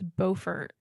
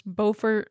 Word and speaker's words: Beaufort: flack because I think in North Carolina it's Beaufort, and in South Carolina, because there's two cities. There's Beaufort, North Carolina, and then Beaufort, South Carolina.